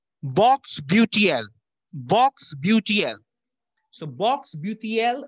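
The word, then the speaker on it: Bocksbeutel: It's known as Box Beautiel. Box Beautiel.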